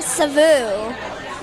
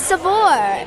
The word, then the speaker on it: Saveur: Everybody's saying Savu. It's Savour.